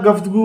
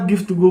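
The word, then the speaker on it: گفتگو: लफ्ज़ होता है और ना गिफ्त गू वही लफ्ज़ होता है। तो इसलिए आप यहाँ पर पेश की हरकत जो होती है वो आपको यूज़ करनी है। तो ये पढ़ा जाएगा गुफ्तगू।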